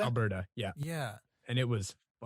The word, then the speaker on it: Alberta: and so i uh calgary that's up in alberto right is that how you pronounce that alberta alberta yeah yeah and it was